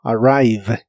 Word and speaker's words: arrive: Y usarás el verbo arrive, que significa llegar o arribar a un lugar. La R de inglés es como la R de español, pero mucho más suave.